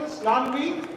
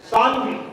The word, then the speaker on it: Shanvi: Is that the correct pronunciation? Snanvi? Shanvi. Shanvi, okay. Shanvi Kumari, Panpuri Singh and Rishu Priya.